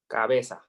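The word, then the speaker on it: cabeza: head the head in Spanish you say Caba cabesa okay so once you get head in Spanish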